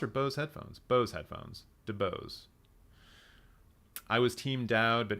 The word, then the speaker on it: DeBose: Her name's pronounced DeBose. Oh, excuse me, I've been saying that wrong for weeks.